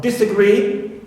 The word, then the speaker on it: disagree: stress like not this also disagree clear right so here also this is neutral uh dispatch right here